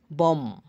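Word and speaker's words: bomb: M plus B এম আর বি একসাথে থাকলে বি এর পর ভাওয়েল না থাকলে বি এর উচ্চারণ হয় না। যেমন বম বোমা কম চিরুনি থাম হাড়ের না হাতের বুড়ো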